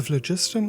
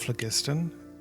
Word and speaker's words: phlogiston: you should stab me the flagistan the flagistan of flagistan either pronunciation is valid the flow the rainbow